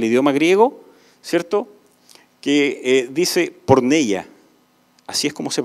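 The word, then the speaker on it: πορνεία: está en el idioma griego cierto que dice porn ella así es como se pronuncia porn ella y no habla únicamente de la fornicación o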